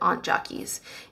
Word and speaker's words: Aunt Jackie's: or Aunt Jackies sorry somebody told me to pronounce it Aunt Jackies and they have a